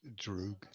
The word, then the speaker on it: Droog: It's actually pronounced Droog. Drug. Or Droog.